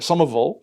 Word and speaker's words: Somerville: technically Somerville, Mass or Somerville for the local pronunciation.